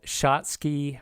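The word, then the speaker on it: Schatzki: sopal Junction next question what is the so-called shoty ring and that is spelled s c h a t z Ki what is the so-called shotsky ring notable narrowing of the normal B ring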